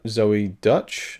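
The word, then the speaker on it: Zoey Deutch: uh i love uh zoe dutch that's how you say her name she's the daughter of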